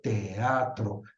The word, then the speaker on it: teatro: diptongo que un iato es más fácil teatro que teatro sin embargo la norma te dice no es un iato y debes pronunciarlo teatro Quién dice voy al